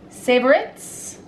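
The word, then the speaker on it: Savoritz: Savorits. Savorits. Yeah. Savorit. Savorit. So, and it comes like savor it. Savor it. So, it's savorit. Like Ritz crackers.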